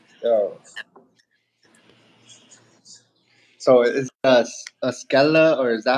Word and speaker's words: Skella: So is it a Skella, or is that how you pronounce it?